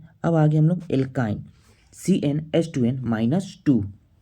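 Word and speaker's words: alkyne: ए था इन ठीक बस उच्चारण प करना है एल्काइन इसमें क्या आ रहा है आइन ठीक आइन और जब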